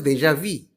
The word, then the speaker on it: déjà vu: It's déjà vu. It's also pronounced as déjà vu.